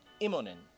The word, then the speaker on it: Immonen: If you're wondering how she pronounces, they pronounce the last name, it's Immonen.